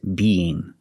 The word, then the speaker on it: being: So with being, we have the E sound, that's the long E sound like green beans, 2 times. Be-ing. We separate the 2 sounds with the Y sound, but it's a soft Y sound. So together, be-ye, be-ye, be-ye, being.